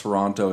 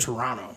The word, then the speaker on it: Toronto: And whoever I believe they pronounce they don't hit that T at the end though when they say it's just Toronto. Toronto. Not Toronto.